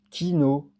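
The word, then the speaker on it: quinaud: Kino Q U I N A U D.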